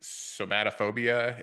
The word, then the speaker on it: Somatophobia: What about your book, Somatophobia? Is that the correct pronunciation?